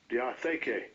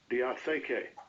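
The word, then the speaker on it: διαθήκη: From Strong's Concordance, we learned how to pronounce the original Greek word. Strong's G 1242, diatheke, diatheke.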